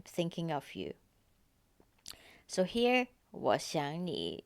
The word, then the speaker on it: 我想你: So three characters, they have the third tone. And again, in the middle, the verb 想, we pronounce it as the second tone because of the 你 after it.